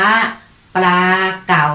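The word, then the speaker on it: ปลาเก๋า: สุด ท้าย แล้ว ค่ะ เด็ก ๆ คำ ว่า ปลา เก่า นะ คะ ปลา เก๋า ตะกวด ว่า พอ รอ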